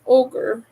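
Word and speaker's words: Ohgr: to see in my life uh which was ogre it's spelled o HG R and this is the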